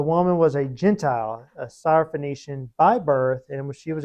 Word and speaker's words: Syrophoenician: So Syro, Syria, okay? And she was a Phoenician woman, okay? So they just, Syrophoenician. Just cool to say it.